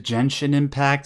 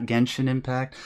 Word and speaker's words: Genshin Impact: yeah didn't didn't you know though sai it's pronounced gentian impact and not genshin impact yeah who knew we everybody's been pronouncing sorry